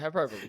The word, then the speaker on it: hyperbole: I said it right, hyperbole.